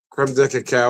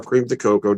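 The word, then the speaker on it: crème de cacao: So 2 ounces of the whiskey, 1 ounce of some creme de cacao or cream de cocoa, depending how you like to pronounce it.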